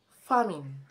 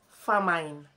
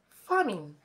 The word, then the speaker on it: famine: at the first word the first word is pronounced as famine famine not famine you don't say famine but famine there shall be no famine in the land